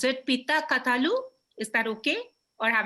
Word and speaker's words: Pitta Kathalu: Pitta Kathalu? Is that okay? Or have I got it wrong? It's Pitta. Yeah, Pitta Kathalu.